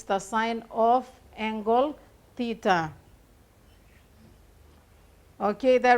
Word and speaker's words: sine: over the hypotenuse okay so sign not seen some people pronounce it as sin it's not seen it's sign it's just denoted with